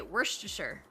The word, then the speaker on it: Worcestershire: Because if it's the sauce, I say Worcestershire.